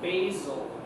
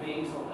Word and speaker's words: basal: A-P-I-C-A-L is the way that's spelled. This is called the basal. B-A-S-A-L. Not basil as in the herb.